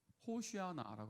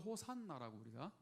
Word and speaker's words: 호산나: 히브리어로 호시아나라고 합니다. 호시아나. 이제 구원하소서. 이걸 호시아나를 빨리 읽으면 어떻게 되죠? 호시아나. 다 같이 호시아나. 네, 이게 이제 구원하소서. 영어로 호산나라고 우리도 호산나라고 읽습니다.